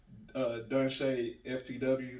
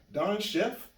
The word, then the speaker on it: Donche: And constantly when people are mixed and see me come in, they're like, Don Chef? I'm like, nah, Donche. So it's CHE pronounced Shay.